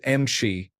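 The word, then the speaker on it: امشي: It is pronounced Mshi.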